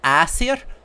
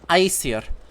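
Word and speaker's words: Æsir: reconstructed versus modern pronunciation they you they call it asir well i'll call them ice here that's modern icelandic versus reconstructed old norse okay yup so yeah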